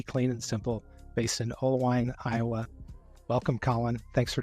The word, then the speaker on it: Oelwein: Let me start out by asking, one, am I pronouncing Oelwein correctly?